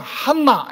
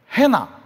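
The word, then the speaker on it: Hannah: N이 2개 있으면 한나 이렇게 안 합니다. 해나 이렇게 부릅니다.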